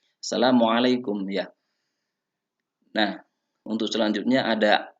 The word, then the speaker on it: Assalamualaikum: Dalam pengucapan Assalamualaikum, ain itu juga harus jelas anak-anakku semuanya. Assalamualaikum ya.